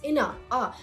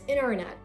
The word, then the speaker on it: internet: So it's not, for example, the word internet, so it's not without T, it's inna, So you're pronouncing the sound instead of ta. So it's internet, international, county, 20.